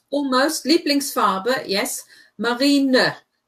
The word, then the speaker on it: Marineblau: Marineblau. Right, because there's an E on the end. There is no silent E.